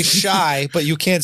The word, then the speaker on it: Chi: Shy is CHI. Yeah. But it's pronounced shy, like I'm shy.